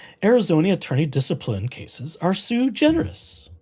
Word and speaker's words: sui generis: attorney discipline cases are sui generis or sui generis If I were to use proper Latin pronunciation, be sui generis. Oh, or better Latin pronunciation. What little I know of such things.